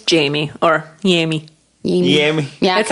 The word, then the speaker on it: Jaime: it's Jamie or Yami. Yami. Yami. Yeah, That's how 'cause my it's not- grandma would pronounce it.